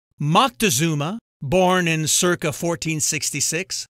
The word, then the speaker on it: Moctezuma: Moctezuma born in Circa 1466 has many variant spellings and pronunciations including Montezuma North Americans are generally more familiar with Montezuma this legendary Mesoamerican ruler